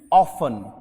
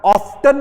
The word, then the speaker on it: often: Word होता है OFTEN, ऑफन। कोशिश करें जब टी के बाद EN आ जाए ना तो उस टी को साइलेंट कर दो। इसका मतलब उसको बोलो ही मत। ऑफ्टन और ऑफन में से क्या बोलोगे?